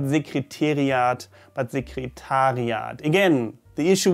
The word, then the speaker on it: Sekretariat: So the administration office in German is often mispronounced as Sekretariat. Das Sekretariat. Ich muss mal ins Sekretariat. I have to go to the administration office. Well, it should be das Sekretariat. Sekretariat. It's similar to the word before, I'm sorry, very difficult to hear.